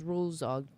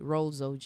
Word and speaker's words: Rolls: Oh, you pronounce it as rules. Rules OG. Rolls OG. Yeah, rolls.